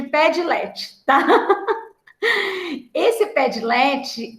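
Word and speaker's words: Padlet: assim ó pede LED as pessoas falam pronunciam que essa é a pé delete mas como eu sou mais simplona eu chamo de pé de LED tá esse pé delete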